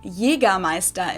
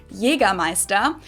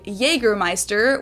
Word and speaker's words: Jägermeister: From shoes to alcohol, this is pronounced Jägermeister in German, Jägermeister. English speakers usually say Jägermeister, which is pretty much the same, just with a pretty thick accent.